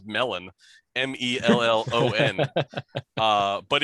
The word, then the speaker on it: mellon: is indeed spelled melon m-e-l-l-o-n uh but in sindarin which is the the name of the language that tolkien comes up with it is pronounced mellon which is what gandalf